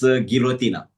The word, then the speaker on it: Guillotina: Uh, it's Guillotin. Uh, the name for the international competitions. It's Guillotina. Guotina. And that's that's Romanian.